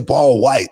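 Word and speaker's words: Wight: show uh paul white even when i say paul white i go you know it's spelled uh w-i-g-h-t you know what it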